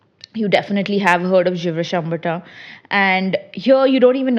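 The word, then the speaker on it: Gevrey-Chambertin: This is Givre Chambertin. Okay. Givre Chambertin. Okay. Okay. This is French, so it is a little roll your tongue and talk about it.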